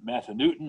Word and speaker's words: Massanutten: skyline drive looking over toward massanutten or massa newton if you want to pronounce it that way uh mountain and uh